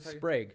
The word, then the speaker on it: Sprague: I want to make sure it's Erik Sprague. Sprague.